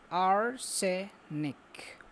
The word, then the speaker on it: arsenic: a chemical called arsenic it pronounced R say Nick and sounds like parsnip okay parsnip arsenic poisoned